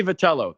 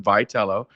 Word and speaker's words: Vitello: Tony Vatello, the new manager, Tony Vitello, the new manager of the San Francisco Giants. That's how it's pronounced. Vitello.